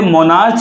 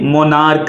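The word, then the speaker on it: monarch: जैसे कि एम ओ एन ए आर सी एच, बहुत से लोग इसे मोनार्च बोल देते हैं लेकिन ये मोनार्क है, मोनार्क। तो इस मोनार्क ये क्योंकि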